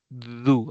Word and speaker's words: do: do acuerdense do y Cómo se pronuncia du Aunque es do pero se pronuncia do do you have a